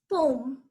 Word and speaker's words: poem: The next word is poem. It is not poem. Many people might be pronouncing it poem, but still some people say poem.